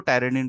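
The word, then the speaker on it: pteridine: और ये है टेरिडिन, ये पी साइलेंट है, इसको टेरिडिन पढ़ते हैं, ये टेरिडिन का स्ट्रक्चर है।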